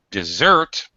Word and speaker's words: dessert: to eat that's just which has second syllable stress all right desper so as a what no dessert dessert what we eat